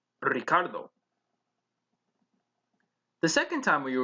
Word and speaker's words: Ricardo: vamos a la playa there is an r in the initial position so you would roll the r in ricardo the second time when